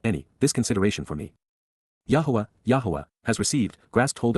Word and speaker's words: Yahweh: two more than find in both tets combined Yahweh Yahweh the proper pronunciation of the name of eloah God as